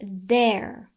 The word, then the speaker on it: their: On a side note, I often hear students mispronounce they and their. They is the long sound A, where there is the R-controlled vowel sound air.